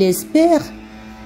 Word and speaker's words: espère: de médecine dans il espère le e on le prononce pas qui à la fin